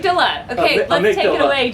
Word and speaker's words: amygdala: it's another one I don't know how to pronounce. Oh, this is great. I'm gonna say Amy amygdala. Oh, Amy. Yes, Amy. She's my favorte person. How do I pronounce that? Amygdala. Amygdala. Amy Deligla.